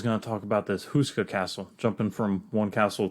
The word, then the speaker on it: Houska: Czech Republic is houska Castle how do you spell that h-o-u-s-k-a okay now this one Husker Castle okay touches on checks all my books